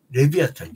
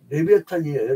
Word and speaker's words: 레비아탄: 리오야이라고 나오는데 그 뭐야 라틴어 발음 그대로 하면은요 레비아탄 레비아탄 여러분 영화 레비아 부신 이 말이 나오면 사람들이 자꾸 질문을 해요 레비아탄이에요 레비탄 똑같은 말이에요 그니까